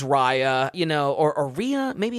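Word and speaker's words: Riya: Uh, I think it's R I Y A. Ria, I guess. Ryan. Okay. I would say Rya.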